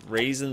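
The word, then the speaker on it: Razen: know his name is spelled cool R A Zen but his name is just raisin I mean he's like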